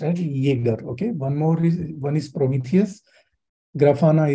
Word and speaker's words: Jaeger: It is pronounced as Jaeger.